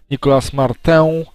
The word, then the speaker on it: Nicolas Martin: O, Nicolas Martin, bo to Francuz, tak się powinno jego nazwisko wymawiać. Nicolas Martin, prawdopodobnie jest to napastnik, gdyż swoje...